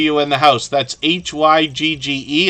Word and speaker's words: hygge: good to see you in the house that's h-y-g-g-e it's pronounced hygge Homestead uh it's good to see